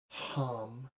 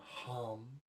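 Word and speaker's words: ham: Its sound is hum, H-A-M, hum.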